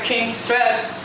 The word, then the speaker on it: Kingcess: We got the rapper Kingcess. That's how you pronounce it, right?